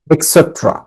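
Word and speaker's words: et cetera: For example, উদাহরণস্বরূপ, opposite বিপরীত, নেক্সট টু পাশে, নিয়ার কাছাকাছি, ইটিসি এটা পূর্ণ উচ্চারণ হচ্ছে এক্সেট্রা।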